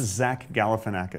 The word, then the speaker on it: Zach Galifianakis: It's pronounced Zach Galifianakis.